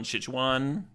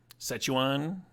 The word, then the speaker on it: Szechuan: There's a, the main Chinese food I eat is from a place called like Ichiban Szechuan.